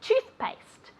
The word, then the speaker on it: toothpaste: Toothpaste. Toothpaste. Okay. Remember that toothpaste as if it were a U.